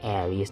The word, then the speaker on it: Ares: สะกด เหมือน กัน เลย ผม ก็ สงสัย มา ว่า เป็น คน อ่าน ว่า อะไร แล้ว ก็ เลย ไป นั่ง เสือ ภาษา อังกฤษ มา ว่า แบบ เอ๊ย เอไอเอส คน เอา เสีย เช่น ไร นี้ แล้ว ก็ ไป บับ กด ฟัง มา ซึ่ง สุด ก็ คือ มัน อ่าน ว่า Air vs นั่น เอง นะ ฮะ โอเค มา